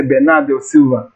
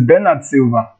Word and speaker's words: Bernardo Silva: at silver now so in premier league we pronounce it wrong when we say bernardo silva is bernard silva this has been an